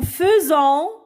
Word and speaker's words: faisons: AI se lit E. D'accord? Nous faisons une promenade et ET.